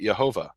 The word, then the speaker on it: Jehovah: you have a J the J is pronounced yeah mm-hmm so when when Germans write Jehovah they don't pronounce it Jehovah they pronounce it Yehovah and so the point